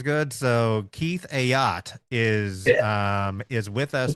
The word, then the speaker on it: Ayotte: I've probably called him Keith Aote. Right? Everybody goes, "Oh, Keith Ayote. Keith Aody." It's actually pronounced not a boat, but a yacht.